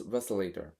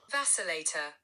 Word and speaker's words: Vacillator: but from album exactly first song is velator I hope I pronounce it correct in the correct way wait vacillator vacillator okay so this song is